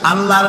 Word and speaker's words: আল্লাহ: অবশ্যই চেষ্টা এটি আমাদের মনে রাখতে হবে তো আল্লাহ তালা তার উপরে আমাদের বিশ্বাস হচ্ছে এই যে